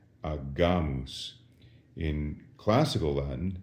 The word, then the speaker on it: agamus: But with an A, the G goes back to being a hard G, agamus.